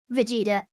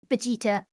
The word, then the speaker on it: Vegeta: Uh, it's uh Super Saiyan Blue Vegeta. Vegeta. That's the Japanese um pronunciation.